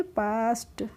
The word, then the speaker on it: past: ठीक है, ऐसे PAST है, तो हम इसको PA हो जाएगा पा, और ST हो जाएगा पास्ट। कैसे हो जाएगा, PAST को हम पढ़ेंगे पास्ट।